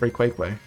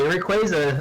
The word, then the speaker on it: Rayquaza: For the longest time, I called it Rayquaza or Rayquaza. I'm not going to McDonald's anytime soon. I'm dead. It's Ray Quake Way.